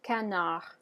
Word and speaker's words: canard: So the D is still part of the spelling, as is the S and the T. So the word is going to be pronounced canard.